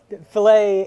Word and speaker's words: fillet: click on given well fillet and fill it are spelled the same way but they're two different things yeah click on actually